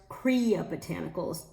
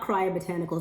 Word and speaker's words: Kriya Botanicals: The brand is pronounced Kriya Botanicals per their website, not Kriya Botanicals like I've been saying for over a year.